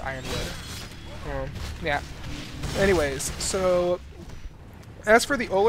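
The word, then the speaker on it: Yronwood: Oh, by the way, it's spelled Euronwood, it's pronounced Ironwood.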